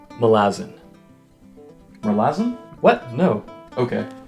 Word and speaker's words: Malazan: It's the first Malazan book. Oh, actually, it's pronounced Malazan. Malazan? What? No. Okay. It's Malazan. Kind of like a calzone, except this one's filled with blood and magic and has a generally dark tone.